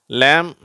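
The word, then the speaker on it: lamb: Dwayne two சரி அடுத்தது எம் பி இந்த இரண்டு எழுத்துக்கள் சேரும் பொழுது இந்த பி சைலென்ட் ஆயிடுது சரியா இத வந்து எப்படி படிக்கணும் இம்னு படிக்கக்கூடாது அப்படின்னு படிக்கணும் அவ்ளதான் பியும் சேர்ந்து வந்தா இது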